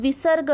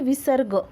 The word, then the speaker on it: विसर्ग: अब विसर्ग देखो, इसका उच्चारण ह की तरह किया जाता है।